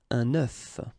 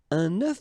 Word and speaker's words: œuf: The first one that we'll see is un œuf.